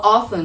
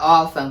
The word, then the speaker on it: often: By the way, uma curiosidade, essa palavra often pode ser pronunciada de duas maneiras. Often, sem a pronunciazinha do Tzinho, e often, com a pronúncia do Tzinho.